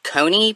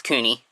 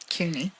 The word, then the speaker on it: Couney: the hot deg episode I called him Martin Cony because I didn't know how to pronounce his last name uh c o u